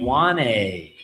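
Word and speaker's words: Ioane: Iwane. Like I said, even though there's no N in his name, he says that it has that N sound.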